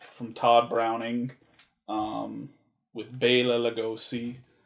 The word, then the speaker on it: Bela Lugosi: todd browning um with bailla lugosi i actually i watched another thing with him in it and he refers to himself as bela lugosi so i'm pretty sure that's how it's pronounced so uh dracula of